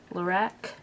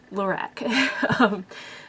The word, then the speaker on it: Lorac: I assume it's pronounced Lorac because it's just Carol backwards, because the owner or creator or whatever is Carol. It's not a fancy French name. Lorac.